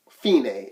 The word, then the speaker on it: fine: on the first side where it says fine Fein a is the correct pronunciation okay this is day so that's what